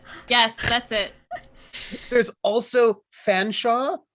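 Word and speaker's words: Featherstonehaugh: that's it there's also fanshawe which is spelled featherstone hall by the way like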